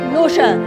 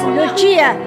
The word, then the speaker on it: Lucia: It's an Italian name, not an English name, not an American name. It is not pronounced as Lucia. It's Lucia.